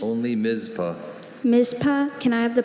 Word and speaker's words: Mizpah: Are there any alternate pronunciations? Only Mizpah.